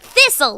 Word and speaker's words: thistle: I'm like huh there are other silentes but I couldn't come up with any at the moment so like a week later cuz that's when I replay arguments in my mind a week later I was like thistle listen ha right Castle right right right right